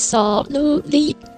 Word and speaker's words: soruly: So my name is Soluli desu. Yeah, this is the actual pronunciation of my name.